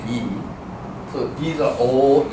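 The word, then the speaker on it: 이: But more proper way to say is E.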